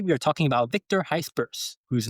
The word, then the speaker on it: Gijsbers: And today we are talking about Victor Gijsbers, whose name I prepped with offer about 5 times before we started recording this episode right now. Victor Gijsbers. You're not hitting the H hard enough. Gijsbers.